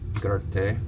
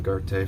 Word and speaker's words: Goethe: And here's the more popular Faust by Johann Wolfgang von Goethe. We'll just call him Goethe from this point forward, because that's how German people pronounce it.